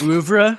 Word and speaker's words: oeuvre: I feel like you have to really pronounce it, as French as possible whenever you say it.